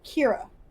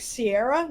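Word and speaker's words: Ceara: CEA RA oh yeah and it's and it's pronounced Kiro oh and people like Sierra no your uh Sarah no well and that's the thing is that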